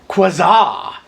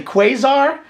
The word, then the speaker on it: Quasar: from Collin and I I was pronouncing it quaza but I'm guessing it's probably quasar like the old TV sets from olden days I